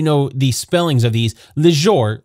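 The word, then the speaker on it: Lejzor: Just so you know the spellings of these, Lejor, or Leonard, is spelled L-E-J-Z-O-R.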